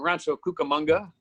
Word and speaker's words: Rancho Cucamonga: 2-bedroom house out in Rancho Cucamonga. Rhymes with Cowabunga.